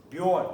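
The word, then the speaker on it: Björn: J now is pronounced yay. Like yeah. Not j, it's yeah. Like, for example, if I write a really common Norse name in the old days, Bjorn, that means bear.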